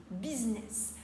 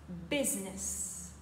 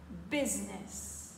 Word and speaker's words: business: anglais business alors attention en français on dit business mais le mot anglais se prononce business encore une fois business pour dire elle gère une entreprise ou un